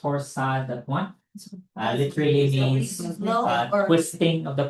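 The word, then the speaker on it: torsades: So, torsad that's pronounced torsad literally means twisting of the points.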